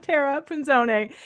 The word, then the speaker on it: Tara Punzone: Tara, Tara, Chef Tara Punzone.